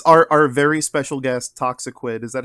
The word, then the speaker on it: Toxiquid: new here yes our our very special guest toxiquid is that how you pronounce it yeah it is toxiquid but uh usually just p people call me